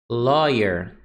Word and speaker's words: lawyer: Lawyer. Lawyer. Olha só, essa combinação de A com W. A gente vai pronunciar ó.